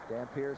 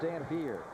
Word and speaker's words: Dampier: It is pronounced Dampier. It is not Dampier like Louis Dampier. Right, the old shooting guard from Kentucky.